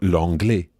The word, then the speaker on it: l'anglais: But in the south of France, you'll hear a sound that sounds more like the English pay or day or may. So that would become je faisais or l'anglais, just as Maëlys pronounces the word for English.